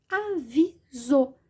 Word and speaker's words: aviso: Avisou. E aí eu faço sim a pronúncia com som de Z.